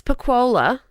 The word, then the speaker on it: Pacquola: It's Pacquola. It's Italian, but honestly, whatever you say, I'm coming out, you know.